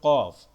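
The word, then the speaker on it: ق: অক্ষর থাকবে, এটা হলো কফ। শেষের কফ, শুরুর কফ, আরেকটা হলো মাঝের কফ, কফটা একদম গলার ভিতর থেকে একটু ধাক্কা দিয়ে উচ্চারণ করতে হবে, কফ, এটা কফ।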